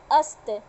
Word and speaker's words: अस्त: उसी तरह स में हलंत लगा हुआ है, इसका मतलब उसको आधा स का उच्चारण देंगे, प्लस ये व्यंजन वर्ण है, पूरा त लगा हुआ है, तो ये क्या हो गया, आधा स और त क्या हो गया, अस्त। सत इसको नहीं बोलेंगे, क्या बोलेंगे, अस्त।